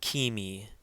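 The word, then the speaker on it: ⲕⲏⲙⲓ: And this word is kimi, kimi. Again, remember the eta, which is the second letter in this word, has a long E sound like seek.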